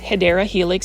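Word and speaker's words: Hedera helix: I mean, you can see um this one is our first Hedra Helix or the wonderful ivy. Um the correct way to say it is Hideera Helix.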